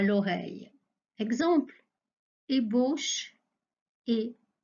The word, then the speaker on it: ébauche: supplémentaires emboucher quelqu'un donc je répète pour la prononciation une ébauche et une embauche autre confusion entre des mots